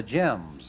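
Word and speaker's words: Gems: The Jims. That's spelled G-E-M-S.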